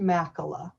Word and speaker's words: Machala: It's pronounced Machala.